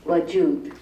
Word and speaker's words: Wajood: Pronunciation is WAJOOD.